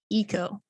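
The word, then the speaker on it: Ico: is what is okay it's also pronounced eco eco uh a horned boy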